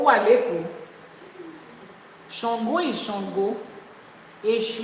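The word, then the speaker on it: Èṣù: Eshu is Eshu. It's not Eshu. Eshu. Eshu. A and Shu. Pronounce it like that.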